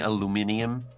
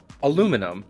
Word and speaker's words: aluminium: You can't rely on Americans to pronounce things right. Fucking aluminium? No. Aluminum.